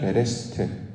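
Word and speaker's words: בְּרֵאשִׁית: 언약이라는 발음도 비슷해요. 베리트. 창세기 태초에는 베레시트, 언약은 베리트. 그래서 발음이 이제 비슷하기도 한데, 이처럼 언약이라는 말, 이건 영어로는 커버넌트라고 이제 번역을 했는데, 언약은 하나님이 이루시는 구원 사역.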